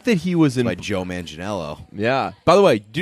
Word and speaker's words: Manganiello: way do you know that's not how you say his name we've been so we've said his name wrong a lot of times like on purpose we called him like Joe man jello ball it's Joe mingi Maggie you know yeah it's